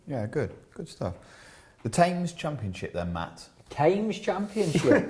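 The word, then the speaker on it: Thame: The Tames Championship then, Matt. Tames Championship. Not the TS tames. The Tames Championship.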